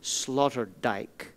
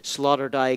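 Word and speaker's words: Sloterdijk: our conversation about our second philosopher today Peter Slaughter DJ and by the way uh Mark asked for me to spell these obscure European names Slaughter dye is spelled s l o t r d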